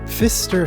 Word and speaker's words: Pfister: me laugh more so the Fister family I intentionally chose the name to further the irony that there is a silent P that I have to look out for that will increase the